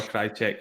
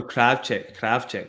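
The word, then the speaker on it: Krawczyk: Well, I know a Krajcik, and she pronounces her name. Okay. No, Kravchik, sorry. Like Kravchik, yeah.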